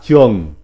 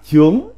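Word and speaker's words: 長: Chữ 161, chữ trường, âm Hán Việt đọc là trường, còn có âm đọc khác là trướng, là tràng, là trưởng, là trượng.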